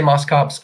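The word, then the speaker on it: Moschops: your friend and mine Moss chops some people say Moss cops I just I feel like it has to be Moss chops I don't care what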